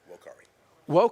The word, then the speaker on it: vocare: The word calling is from the Latin vocare. Is that how you pronounce it? I didn't take Latin. Vocare. Vocare. Yeah, no V.